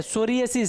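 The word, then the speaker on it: psoriasis: है सोरियसिस क्या है सोरियसिस पी साइलेंट है क्या है पी साइलेंट है सोरियसिस है सोरियसिस को देखेंगे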